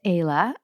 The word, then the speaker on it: Ayla: So let us introduce you to Ayla. That rhymes with Kayla.